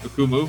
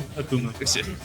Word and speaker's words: Akumu: Or, how do you pronounce it? Akumu. Akumu.